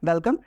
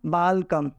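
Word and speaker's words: welcome: that is the word this word वेलकम एंड she pronounce बाल कम एंड the celebrity who केम फॉर her only for the celebrity she वास saying that वेलकम actually but she pronounce in very different manner बाल कम then celebrity वा से नो I have all hairs how कैन यू से लकम that is वेलकम सो यू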